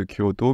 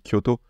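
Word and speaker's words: 京都: Par exemple, nous on dit Kyoto, mais en japonais c'est bien Kyoto.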